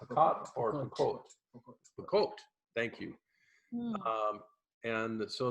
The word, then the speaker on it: Pokot: Did I pronounce that right? Yeah. Pakot or Pakot?